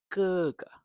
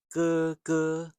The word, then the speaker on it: 哥哥: But if the same syllable, same character repeats, then the second syllable can be light, more like māma, gēge. So it's not māma, gēge, although that's fine too.